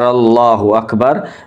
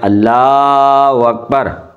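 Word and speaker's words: الله أكبر: اب دیکھیں، ایک تو یہ ہے اللہ، ہم اس کو پڑھتے ہیں اللہ اکبر، اکبر، اور یہ پیش جو ہوتی ہے وہ بھی گئی، یہ ہا بھی گئی، یہ دونوں ہم کھا گئے، اور یہاں جو الف ہوتی ہے اکبر وہ بھی چلی گئی اور ہم نے وہاں پہ لگا دی وا۔ تو آپ ضرور اس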